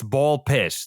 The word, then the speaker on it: BALLxPIT: I've been told that it's ball pitch. The X is not pronounced.